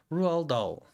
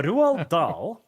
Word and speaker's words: Roald Dahl: Pronounce Roald Dahl. Roald Dahl.